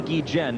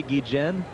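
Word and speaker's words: Guillén: the source of controversy I must pronounce the D Chen because that is what you have decreed and yet the players have begun to kid me Kubek still making you say gijin well when you talk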